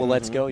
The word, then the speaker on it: Waletzko: And we need for Waletzko, is I'm pronouncing that right? Waletzko, yeah.